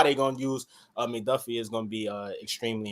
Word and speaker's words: McDuffie: Is it how you say his name? McDuff? Is it McDuffie? Yeah, McDuffie.